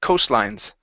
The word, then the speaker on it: coastlines: so instead of coastlines put the stress at the very beginning coastlines coastlines okay very good